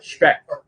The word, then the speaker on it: Specht: It's a good German name. Specht.